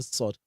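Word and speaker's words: صاد: that, but basically, because the position of the tongue when sounding sod is also different from when sounding sin. So simple. Because people make a lot of mistakes when pronouncing sod. What you do when you're pronouncing sod is what? They're like talking down the tip of your tongue to behind your lower teeth.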